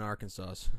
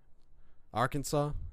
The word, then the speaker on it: Arkansas: Slightly better than Arkansas.